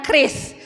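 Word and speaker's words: QRIS: response code Indonesian standar tulisannya q r i s dibacanya Kris jadi kalau bapak ibu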